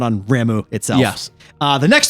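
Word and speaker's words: Ramuh: next one you get is I guess they pronounce it ramu I thought it was or whatever uh the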